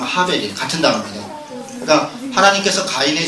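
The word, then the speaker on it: הֶבֶל: 때 아벨 있죠 아벨이 하입니다 원래 발음이 정확한 발음은 하벨 같은 단어입니다 그니까 하나님께서 가인의 제사는 받으시고 아벨의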